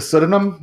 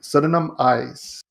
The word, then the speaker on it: pseudonym: know how it's a pseudonym this is a sudden sudden eyes but that's not how you say it come on i don't